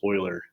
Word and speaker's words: Euler: circuits it's spelled kind of funny but it's pronounced euler an euler circuit is a path around a